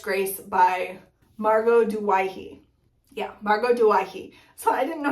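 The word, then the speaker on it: Margot Douaihy: Yeah, Margot Duwaihi.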